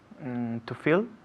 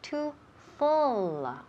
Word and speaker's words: fill: To fill? Very good. Muy bien. To fill. Repeat again. To fill. Perfect. Perfect. Perfect pronunciation.